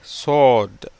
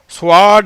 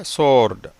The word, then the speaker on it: sword: சோர்டு. ஸ்வாட் இல்லை, சோர்டு.